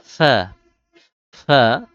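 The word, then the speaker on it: ف: যাই হোক এরপরে আইন ফা জিহবার এটা জিহবা থেকে উচ্চারণ হবে ঠোট থেকে ঠোটের ভেজা জায়গা থেকে সামনে উপরে দুই দাতের আগা লাগিয়ে ফা ফা এরপর হল কফ মোটা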